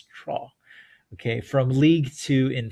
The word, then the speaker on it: Troyes: told, by the way, by a French speaker that it's pronounced Troyes. Um, I guess you'd read it Troyes, but it's Troyes.